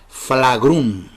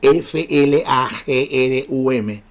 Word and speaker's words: flagrum: era un látigo corto llamado flagrum así como se escribe f l a g r u m flagrum otros lo escriben flagel